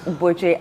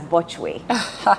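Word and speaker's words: Botchwey: You know, when I started broadcasting, I used to pronounce Boche as Bochwe. And my editor would scream from the office, "What is Bochwe?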